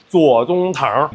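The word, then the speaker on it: 左宗棠: The only reason it's called General Tso's chicken, and from now on, I want you to be able to pronounce the guy's actual name, Tso Tsung-tang, General Left.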